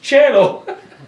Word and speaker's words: cielo: I went, "Cielo, cielo," right? She goes, "That's not right, it's cielo." I said, "No, it's my teacher said it's cielo," which of course is right.